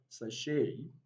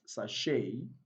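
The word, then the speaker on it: sachet: and we have bouquet now the three final words are of french origin so beside the last letter t is not pronounced in the three words sashay charlay and bouquet it's also important to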